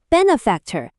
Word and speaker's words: benefactor: Is it the benefactor that puts the accent on the bass Or the benefactor at the back The correct answer is the first benefactor When you can be